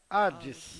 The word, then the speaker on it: Hades: e em algumas palavras, que no se tem letras que não são pronunciadas, como la H, aparece como a letra H, ocasiones que aparece algumas vezes sem serem pronunciadas. como cuando se lee Como quando você lê a palavra Hades.